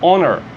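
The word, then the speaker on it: honor: que você lê em onerr onerr esse h aqui ó ele é mudo ele não existe aqui ele está se você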